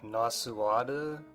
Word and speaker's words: Nasuada: So, in this scene, this leader of a rebellion, who I believe her name is pronounced like Nasuada or something like that.